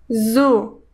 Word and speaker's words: ز: Zu, sa, si, su, z, za, sa, zi, si, zu, su. En el sonido de la letra zai hay algo como el zumbido de un mosquito.